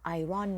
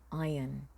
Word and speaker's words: Iron: รีด ก็ ได้ ค่ะ แล้ว ไม่ ออก เสียง ว่า Iron นะ คะ ออก เสียง ว่า Iron Iron Iron Man ก็ เลย มี